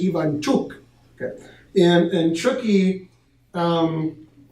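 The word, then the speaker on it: Ivanchuk: the the favorite now ivant truk is gonna have a tough time winning because I'm pronouncing his name wrong so you Americans know what I'm talking about right but it's actually Ian chuk okay and and chukie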